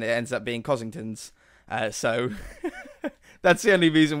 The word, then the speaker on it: Costingtons: I do know, if you read it slowly and properly, it says Costingtons, as in it costs a ton.